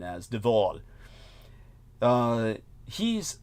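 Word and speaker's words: de Waal: Uh, surname spelled W A A L, but it's pronounced in the typical Dutch fashion as Dval.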